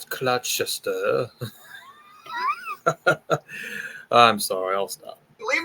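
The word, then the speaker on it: Gloucester: going to be like actually it's pronounced clester or something sorry I'm American it's clester I'm sorry I'll stop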